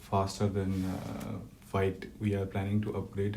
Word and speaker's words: Vite: Tools like Vite, I think it's pronounced Vite, Vite. V-I-T-E, right?